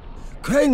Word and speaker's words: Crane: my name's crane crane crane rhymes with train and brain and S and Grain and rain and plane and the other kind of plane and and can I